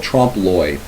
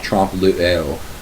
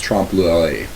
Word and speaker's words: trompe-l'oeil: Another term that I think is important to discuss is a term called trompe-l'oeil, and that's how you pronounce that. It's not trompe-l'oeil, it's trompe-l'oeil.